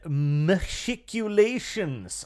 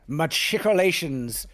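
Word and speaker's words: machicolations: It looks like it's a proper hard CH in it.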